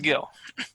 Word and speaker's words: Gil: name it's just you in Spanish the G is pronounced H or something it's Gil and how do you